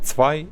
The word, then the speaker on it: Zvei: Or you can pronounce his nickname as Zwei if you feel it, but he has the typo in how the German number should be written, so I used to call him Zwei, so I'll stick to this in this video.